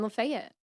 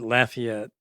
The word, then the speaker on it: Lafayette: I'm from Louisiana and where we pronounce it Lafayette. Mhm. So every time someone says Lafayette, I'm going like, it's Lafayette.